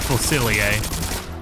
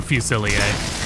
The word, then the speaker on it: Fusilier: sword and gun, and it's called Fusilier. Or Fusilier. It's French. Either way, it's French. So the R is silent.